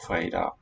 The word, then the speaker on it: fredag: Skildpadderne har ikke tid på fredag. Skildpadderne har ikke tid på fredag. Ikke tid på fredag. Skildpadderne har ikke tid på fredag. Fredag. Skildpadderne har ikke tid på fredag. So this da is a stop.